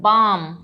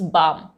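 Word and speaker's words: balm: combination याद रखिएगा काम बी ए एल एम बाम क्योंकि यहां पे एल साइलेंट है एम से पहले यूज़ है इट्स बाम अब एफ का रूल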